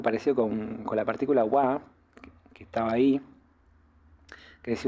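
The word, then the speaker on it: は: vieron que en realidad este hiragana originalmente se pronuncia Ja Y hay un montón de palabras que este sí forma es una sílaba que pertenece a muchísimas palabras Ja pero cuando funciona como partícula como en este caso bueno la pronunciamos Wa es un tema de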